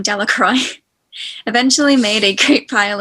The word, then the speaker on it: Delacroix: and harry jones and dicky delacroix the villagers pronounced this name delacroix eventually made a great pile of stones in